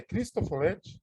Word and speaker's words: Cristofoletti: Eu achei muito interessante o trabalho e o projeto que o Leonardo Cristofoletti, é Cristofoletti? Se pronuncia.